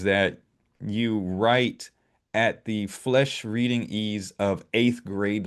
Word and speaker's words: Flesch: I thought it was Fleisch though. There's no I in it though. There isn't? No, no. Spell it again? Flesch. Oh, okay. I guess it is Right. Flesh.